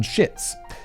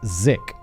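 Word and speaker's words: Szyc: year old john uh old pronunciation guideline john schitz unfortunately but often pronounced by american commenters as zik well let's give him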